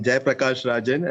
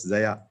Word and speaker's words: Zayapragassarazan: Hi, I'm Jayapragassarazan. Actually, it's written in French. So in Puducherry, we have the custom of writing spelling in French. Okay. So you can pronounce it as Zaya. No problem.